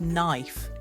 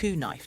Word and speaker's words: knife: For example, take the word knife. You don't say knife, do you? No, the K is silent.